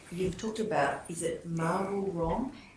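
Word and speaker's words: Mawul Rom: Just so I can understand that, and you've talked about, is it Marwul Rom? How do you spell that?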